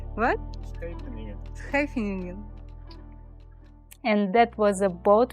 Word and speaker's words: Scheveningen: Hello Scheveningen. What? Scheveningen.